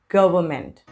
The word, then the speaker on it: government: word it's not government it's not government it's government government the government should speed up the vaccination process of covert 19.